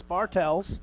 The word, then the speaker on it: Bartels: is what it is Bartels it's going to go against the Bruins and that is the correct pronunciation is bartels and we got our usual mr.